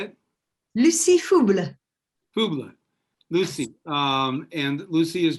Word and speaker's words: Fouble: And then also joining us are Lucy, I believe her last name I'm pronouncing it correctly, is Faubleu, right? Yes, how do you say it? Lucy Fauble.